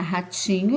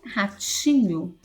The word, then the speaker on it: ratinho: Então, ratinho, qual que é a sílaba forte? Ó? Ratinho, é o ti. Então, aí você vai circular o ti.